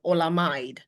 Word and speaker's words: Olamide: Olamid was pronounced as ola amide.